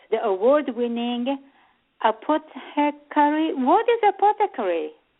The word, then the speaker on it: apothecary: What is apothecary? It's a store that sells herbal medicines. Oh, it's the name of a store. Okay. Apothecary. Did I pronounce it correctly?